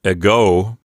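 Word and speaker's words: ἐγώ: has a big ego this Greek word has its Accent on the second syllable so it sounds like a go and this is one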